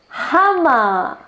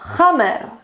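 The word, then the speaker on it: Hummer: chip touch los obstáculos hama así se pronuncia y no hammer se pronuncia hama llama el coche más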